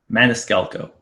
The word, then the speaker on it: Maniscalco: Maniscalco.